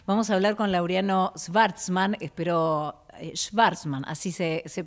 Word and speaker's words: Schvartzman: Vamos a hablar con Laureano Schwartzman, así se pronuncia, él me lo dirá si está bien